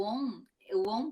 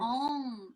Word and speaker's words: Om: O on, por exemplo, é o som do universo. Então, essa vibração eles consideram um som universal. E é pronunciado sempre com a letra A no começo, que A, em todos os alfabetos, é a primeira letra.